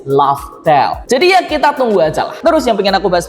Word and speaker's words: Laftel: gini dari yang tadinya kita tahu namanya adalah pulau raftel r a f t e l ternyata itu adalah pelafalan dalam bahasa Inggris laftel jadi ya kita tunggu